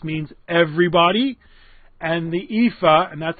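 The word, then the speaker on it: EAFE: the world did x means everybody and the ephah and that's how it's pronounced I didn't make it up ei Fe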